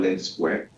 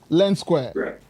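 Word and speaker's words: Lendsqr: Thank you for that question, but before I answer that, let me just echo your pronunciation. Okay. The company is called Lend SQR. Lend SQR.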